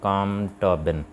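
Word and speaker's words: Colm Tóibín: था उसका नाम था कॉम टोबिन यह एलिस में साइलेंट है तो इसको हम पढ़ेंगे कॉम टोबिन तो यह आयरलैंड का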